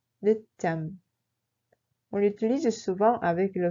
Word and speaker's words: 늦잠: Il se prononce comme 늦잠. 늦잠.